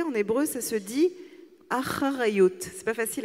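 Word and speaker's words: אחריות: Responsabilité, en hébreu, ça se dit acharayut. C'est pas facile à prononcer.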